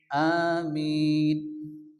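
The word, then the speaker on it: آمِين: আমিন আমরা সর্বদায় পড়ি এখানে আলিফের উপরে কি আছে খালা জবর এজন্য এক আলিফ টান হবে আ মিম ইয়া জের মি ইয়া মাদ্দা এক আলিফ টান দিয়ে পড়তে হবে নুন সাকিন আমিন আমিন এবার আমরা একবার রিডিং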